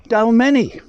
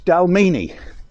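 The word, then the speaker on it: Dalmeny: in scotland called dalmini now you would think it would have an ea or a double e no it's spelt d-a-l-m-e-n-y now to all normal people they would call it dalmani but no no no no it's dalmini this is just a part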